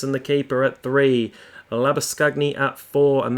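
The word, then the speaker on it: Labuschagne: the keeper at three lava scugny at four and that is how i'm pronouncing it because that is the proper afrikaans pronunciation not the butchering labor showing that the australians do abe de villiers is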